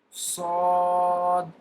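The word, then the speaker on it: ص: Sod. Sod. In Sod, there will be no whistling sound. Whistling sound is the major difference between Sin and Sod. In Sod, there is no whistling sound. Sod.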